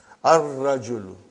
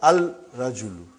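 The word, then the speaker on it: الرجل: Ar-rajulu. The man. Not al-rajulu. It will be wrong to say al-rajulu. It will be ar-rajulu. We won't pronounce lam. Why? Because it is a sun letter.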